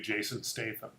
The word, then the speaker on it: Jason Statham: time they they want just really one hbu jason statham i pronounced that right Jason Statham all right and